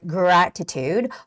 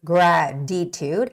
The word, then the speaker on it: gratitude: heartfelt heartfelt heartfelt heartfelt the next word gratitude also you can make a softer T Sound by saying gratitude graditude it's more like a D sound there gratitude but it